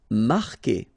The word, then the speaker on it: marquer: Marquer, okay, Q-U together, it's only the sound K, K. Marquer, don't pronounce the U.